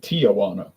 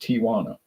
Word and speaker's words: Tijuana: All right, Tijuana. A lot of people pronounce it Tijuana, but it's not. There's no A after the I. It's just Tijuana.